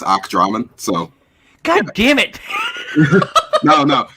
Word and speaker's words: ACDramon: really awesome SL badass slash killer illustrator uh aacd Ramon hey what's going on all right did I